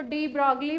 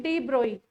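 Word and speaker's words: de Broglie: कई लोग उसको डी ब्रॉगली भी बोलते हैं, वैसे होता क्या, उसको प्रोनाउंस करते हैं डी ब्रोई।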